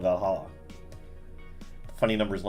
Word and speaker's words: VA-11 Hall-A: fan tourism hotp spot name sounds silly and a bit hard to pronounce good thing it's actually called valala the funny numbers and